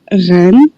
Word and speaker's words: Rennes: Um, I'm from Ren. Ren. I say it again. Yeah. Ren, the R the R is really hard.